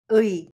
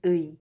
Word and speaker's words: 의: When these two vowels are used together, this compound vowels sounds 의. First letter is 문, second letter is 의.